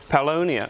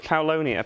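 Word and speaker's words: Paulownia: to your pronunciation of uh paoloina yeah paulonia okay well yeah you're right it's paulo near but um i've started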